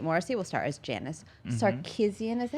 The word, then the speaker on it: Sarkeesian: As previously announced, Mary-Kate Morrissey will star as Janice Sarkeesian.